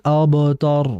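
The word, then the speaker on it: الأبتر: Kemudian berikutnya terakhir hati-hati alabtar bukan o bukan innaaka hual abtar bukan tapi a abtar jadi a-nya tipis a di sini kan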